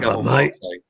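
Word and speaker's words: Maté: Mate. No, not mate. Mate, you commoner. Mate. It's got an accent. I couldn't put the accent on there. It's got an acute accent.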